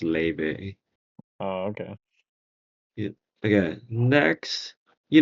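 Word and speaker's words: Laufey: I first found her I thought it was laf yeah Maia yeah but apparently the Scandinavian thing makes it so it's pronounced Le oh okay okay next you know know who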